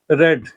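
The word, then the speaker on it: read: आएगा have they have रेड spelling same होता है रीड रेड रेड लेकिन प्रोनंसिएशन अलग होता है दे हैव रेड थर्ड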